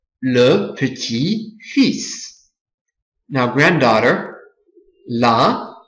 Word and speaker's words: petit-fils: Le petit-fils. So for this one, you don't pronounce the L, but you pronounce the S. Le petit-fils.